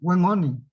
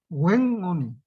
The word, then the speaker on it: Wenoni: Pero esta otra N que está acá y que ellos lo representan con una H al lado, es una N que se pronuncia en la garganta. An. Entonces la forma de pronunciar es Wenoni.